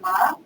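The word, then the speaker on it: Mah: But I would say that I think it merits a discussion like Bernadette Ma, who works at the Peter Wall Institute, and Ma is spelled M-A-H.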